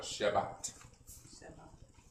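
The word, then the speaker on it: שַׁבָּת: So it'd be sha, bait, but ah was in the kamatz, sha, ba, and then the T like the towel. Sha, ba, or Shabbat.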